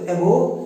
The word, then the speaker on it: abhor: तो हेट करना आप बहुत कॉमन जानते थे, ABHOR, जिसमें आर आप प्रोनाउंस मत करना। तो एबो, हेट, डिटेस्ट या डिसलाइक करना।